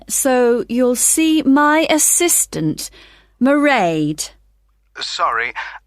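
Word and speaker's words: Mairéad: you'll see my assistant merade sorry how do you spell that it's m a i r e a d marade okay got that it's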